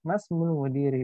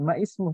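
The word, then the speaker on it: مَا اسْمُ: Cara bacanya itu masmul mudiri. Bukan ma ismu, tidak. Yang benar adalah masmul mudiri.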